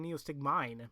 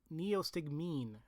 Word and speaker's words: neostigmine: excited neo stick mean i was saying it wrong i kept saying neil stick mine meals neostigmine okay neo what did